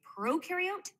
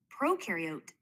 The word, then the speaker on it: prokaryote: Prokaryote, the pro rhymes with no, and they have no nucleus, which holds the genetic material and controls the cell's activities.